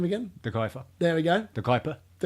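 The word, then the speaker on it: De Cuyper: De Kuiper.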